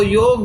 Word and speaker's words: योग: English में भी है, लेकिन आजकल जो उच्चारण का एक फैशन है, योग का योगा स्त्रीलिंग हो गया, ऐसे बोलते ना।